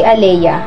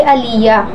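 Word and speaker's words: Alleyah: na sisimulan ko na Ako si Aleya hindi Aliya o Alya kundi Aleya a l l e y a h Aleya m arillano madalas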